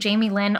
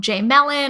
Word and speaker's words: Jaime Lyn: My full name is actually Jaime Lyn, all one word. Oh, interesting. And it's butchered so often, or this is from me as a child, but I was called J Mellon or like Jamelin.